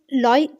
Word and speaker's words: Louis: अब यहाँ पर आप कहेंगे कि ये क्या है, LOUIS, इसको आप लॉयस नहीं पढ़ेंगे, यहाँ पर ऐसा आपका जो है वो साइलेंट हो जाएगा, आपने पढ़ना लॉय।